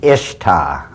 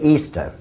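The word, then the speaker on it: Ishtar: Easter now a lot of people think it's pronounced ishta i-s-h-t-a-r people check the Babylonian chalmud once again it is properly pronounced to this very day Easter and accordingly as The Story Goes whoever found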